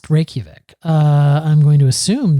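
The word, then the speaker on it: Reykjavík: there you go the guide to All Things Reykjavik excuse me I'm being told it's pronounced Reykjavik um I think we should look that up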